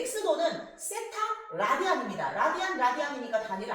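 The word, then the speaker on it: θ: 세타라고 씁니다.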